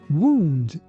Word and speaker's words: wound: Your lips shouldn't touch each other. Wild. While wound wound wound verb to wound is to injure someone or something by cutting or breaking the skin.